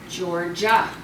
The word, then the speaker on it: Georgia: Georgia. What two letters did we add to the A in Georgia? GI. GI. And the GI is saying what? Ja.